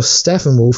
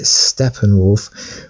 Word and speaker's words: Steppenwolf: Steppenwolf, or Steppenwolf as some people say, but I believe you pronounce it Steppenwolf, will take the Amazonian mother box from Wonder Woman's mother.